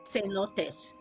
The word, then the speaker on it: cenotes: Cenotes. Cenotes! Yes. Like, after I finish my beer, I feel a little bit cenotes?